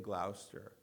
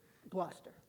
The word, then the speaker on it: Gloucester: And you're in Gloucester. Gloucester. Gloucester, Let me- excuse me. Yep. And you did not. We're touchy about that in No, Gloucester. I'm sorry. I actually Googled how do you pronounce it, and I got it And wrong